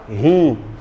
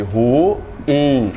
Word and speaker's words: ruim: coisa está ruim, ruim, só que muitos pronunciam ruim ou até a palavra rim. E, cara, a coisa tá rim. Não é verdade? Fazendo somente uma sílaba. Ruim separa, gente. Ru in.